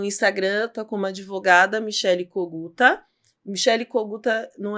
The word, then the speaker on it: Coguta: Coguta é o sobrenome do meu ex-marido, é ucraniano, né? Era Kogut, aí no Brasil virou Coguta, porque era mais fácil a pronúncia.